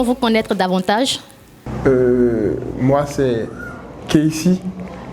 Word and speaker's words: KC: Moi c'est Casey, ça s'écrit Cassé mais ça se lit en anglais. Casey, à l'état civil c'est Simuto Castemon Bronchouik Sebio, artiste, jeune artiste béninois, rappeur, chanteur.